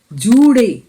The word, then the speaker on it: জুড়ে: আমি আগেও বলেছিলাম ডয় শূন্য রয়ের উচ্চারণ কিন্তু রয়ের মতো নয়, এটা হবে র। জিভটাকে একটু উঠিয়ে নিয়ে বলতে হয় র, অর্থাৎ জুড়ে পুড়ে, শিখর চূড়ে। শিখরে 2টি রয়ের অবস্থান রয়েছে।